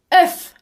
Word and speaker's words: œuf: œuf, Le mot œuf كما تلاحظون أصدقائي الحرفين الأولين OE حرفان متلاصقان إضافة إلى الحرف U. Donc O, E, U se prononce OU. OU. OU comme le mot court.